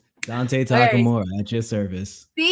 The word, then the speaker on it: Takamura: So, how do we say your name? Oh man, I kind of want to put you on the spot. How would you pronounce it? Uh, Takamura. Hey, you're right on the money.